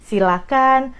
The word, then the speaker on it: silakan: Jadi, silakan, persilakan, jangan pakai H, itu dari pronunciation-nya.